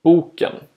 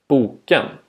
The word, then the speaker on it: boken: In tone 1, boken, meaning the book, and in tone 2, boken, meaning overripe or spoiled, regarding fruit.